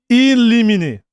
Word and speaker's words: Limine: The way you should pronounce it from the Latin. In limine.